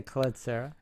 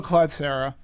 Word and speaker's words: Collet-Serra: up on a ruling in how to properly pronounce? We're going to say Collet-Serra.